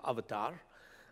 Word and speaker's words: avatar: james cameron film avatar that's the correct indian pronunciation of avatar avatar means incarnation the